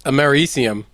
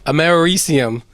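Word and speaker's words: americium: It it doesn't hurt that its name is Ammerisium, right? Did I am my pronouncing that ammerisium amarium which is it's named after the Americas, right?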